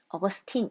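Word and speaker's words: Augustine: 있는 인물이 아우구스티누스 입니다 영어 발음으로는 업어 스팅 이라고 돼요 어거스틴 이라는 이름이 좀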